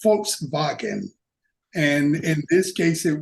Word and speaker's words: Volkswagen: Somebody pulled me aside and says, W's are pronounced V's over here, fella, and V's are pronounced like F, okay? So it's Volkswagen.